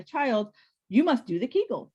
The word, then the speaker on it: Kegel: i was on school the kegel rhymes with bagel it was the kegel